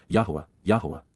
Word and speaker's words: Yahowah: be familiar with and respect, Hyphal imperfect Jussive, Yahowah, the proper pronunciation of the name of Eloah, God as